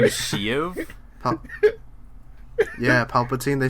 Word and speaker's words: Shiv: The emperor and his name is Shiv. Yeah, Palpatine. They say his name is So his name is Shiv. That's what you're telling me. It's not she. It's shiv.